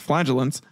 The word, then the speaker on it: flagellant: in thousands the flagellant yeah that okay now I remember how to pronounce it flagellant also contributed to the